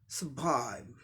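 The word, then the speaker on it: survive: इसी का अमेरिकन में क्या हो जाएगा, आर साइलेंट था, वो आर का भी साउंड आ जाएगा, क्योंकि अमेरिकन इंग्लिश में आर साउंड का रॉ साउंड कहीं भी, आर लेटर का रॉ साउंड कहीं भी साइलेंट नहीं होता है।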